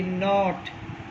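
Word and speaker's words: note: और देखो बच्चे, एक नोट बुक भी तो बोलते हो, उसमें भी तो यही स्पेलिंग होती है, NOT, और फिर E यहाँ पर साइलेंट रहेगी।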